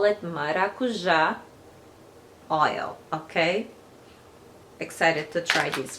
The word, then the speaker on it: maracujá: So tart, it came like, I'm gonna pronounce in Portuguese from Brazil, so we pronounce maracujá oil.